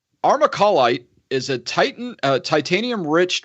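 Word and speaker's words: armalcolite: it is AR em al Co L ite our macaw light and thank you rob for writing out the little how to pronounce it because I would have butchered it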